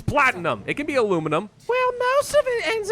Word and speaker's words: aluminum: And yes, I pronounce it as aluminum, not aluminium.